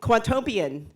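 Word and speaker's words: Quantopian: cuanto p 0 and cuanto peon did I get that right rhymes with utopian okay and I have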